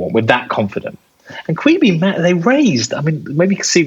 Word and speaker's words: Quibi: Quibi. I don't know if that's how you pronounce it. That's exactly it. Quibi.